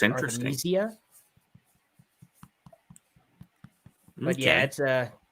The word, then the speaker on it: Arthemesia: Well, the way I pronounce it is Arthemesia, but I guess it's more of a European word for absinthe, or something to do with absinthe anyway. So it's most people pronounce it Arthemesia.